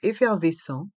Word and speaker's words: effervescent: n Se prononc en effervescent le T à la fin de effervescent est mué un analgésique un comprimé effervescent un analgésique un comprimé effervescent un trait homéopathique un traitement homéopathique dans le mot traitement le a et le i se prononc e r et le E et le N à la fin du mot traitement se prononce en traitement le T est mué homéopathique les deux h